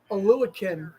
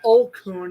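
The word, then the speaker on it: Oluokun: And Oluwakin. I always pronounce it Olkun. It's Oluwakin.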